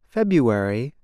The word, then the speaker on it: February: For example, the month February is said like this, February. The R is not pronounced. Instead, speakers make a y sound.